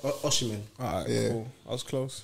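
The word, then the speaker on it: Osimhen: Is it Victor Omniscient? Oh my days. Did I say it right? Is it Omniscient or is it Oshimen? Oshimen.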